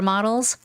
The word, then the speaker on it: model: the model the super models like fashion superm models in Korean we sayel model right but in English it's model model so it's the same